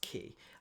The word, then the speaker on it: ki: we call it but as people have rightly said it's just pronounced key um Chi you want